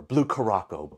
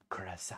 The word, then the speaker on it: Curaçao: Blue Caraco, Blue Caraco.